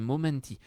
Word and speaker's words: momenti: a un trait, c'est momenti. Et il ne faut pas son moment, mais son momenti giorni miei.